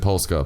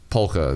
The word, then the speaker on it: polka: I totally knew that Paul course I said polska but it's polka there's how you pronounce it the S is silent no way